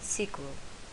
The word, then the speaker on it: SQL: and and C standard SQL is often pronounced and sequel the development of a